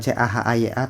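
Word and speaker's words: Tjahaja: Cahayanya tulisannya bukan C-A-H-A-Y-A tapi T-J-A-H-A-J-A. Cahaya gitu, ejaan lama.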